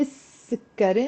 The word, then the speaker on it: السكري: Anytime you put before the sun letter the article l, which means the, you end up not pronouncing the l. So you say السكري instead of السكري, even if the l is there.